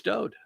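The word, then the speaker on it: דוד: You won't even pronounce his son's name correctly. It's Dowd.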